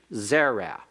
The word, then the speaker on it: zera: two syllables all right Zera like melik is accent's first syllable the first seol may be substituted by means of a holem so that it has a form like the Cal active participle masculine singular codes Holiness but again notice the accent is on the first syllable and then another